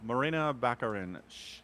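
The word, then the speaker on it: Morena Baccarin: how do we say her name um yeah Marina bakarin yeah uh right so she plays um oh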